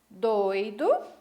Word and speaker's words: doido: temos três sílabas tá percebam que na palavra doido eu tive duas vogais juntas na mesma sílaba a vogal o EA vogal ir porém na palavra do ido eu tenho as duas vogais em sílabas diferentes ficou ue numa sílaba separada né porque porque já devem ter percebido que a sílaba tônica está em lugar diferente a sílaba forte e o significado também